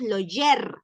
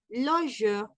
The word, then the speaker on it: loger: Y dice, on ne prononce pas le R dans la finale, le sas en R, comme loger, no decimos loger, sino loger, es un E, loger, garder, con sonrisa,